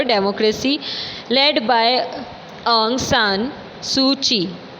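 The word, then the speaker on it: Suu Kyi: लेड बाय आंग सान सू ची। इसको प्रोनाउंस करेंगे सूची नाम से, इसमें सूकी लिखा हुआ है बट हम सूची बोलेंगे।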